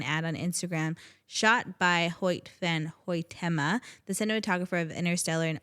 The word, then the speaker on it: Hoyt van Hoytema: They tapped cinematographer Hoyt van Hoytema.